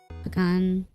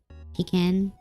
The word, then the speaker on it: pecan: But like, this is pronounced so differently in so many different places. For some reason. It's become like a regional pronunciation, I guess. Pecan. Pecan. I learned... I say pecan, but I've heard pecan.